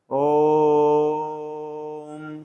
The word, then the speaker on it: ओम: कहा जा रहा है ओम को ऐसा बोलना है कम से कम 3 मात्रा निकले। इसको आप यह नहीं पढ़ेंगे ओ 3 म, ऐसा नहीं है। ये 3 बार इसका उच्चारण लगाना है, मतलब 3 मात्रा का समय देना है ओम।